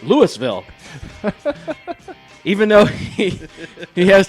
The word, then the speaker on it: Louisville: corey i really appreciate that but it is louisville yes moines how do you say st